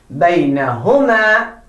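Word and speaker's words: بينهما: Oh, that is wrong. Baynahuma is right. Baynahuma. That's the right pronunciation.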